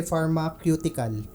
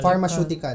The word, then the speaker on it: pharmaceutical: ko binura niya um sabi ko kasi pharmacutical which is ang tama is pharmaceutical pharmacutical yan okay ah